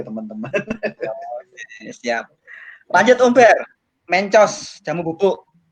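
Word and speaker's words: Mentjos: Mencos, jamu bubuk. Ya itu ejaannya pakai ejaan lama ya, MENTJ ya, TJOS. Mencos.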